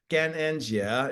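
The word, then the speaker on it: 感恩节: In Chinese, it's Gananjia is how you say Thanksgiving.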